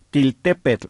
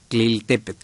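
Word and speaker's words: Tliltepetl: Sí, le robaron por ahí una letra. No es til, sino tlil, tliltepet.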